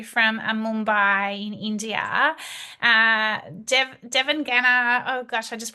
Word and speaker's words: Devangana: Uh, Devon Genner. Oh gosh, I just pronounced that wrong, didn't I?